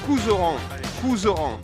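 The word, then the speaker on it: Couserans: J'ai bien prononcé, ça va. À Couzeran. D'accord, ouais, Couzeran.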